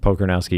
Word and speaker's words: Pokornowski: Pokornowski. You got to spell that for people. Sounds exactly like it's spelled. Okay. Pokornowski.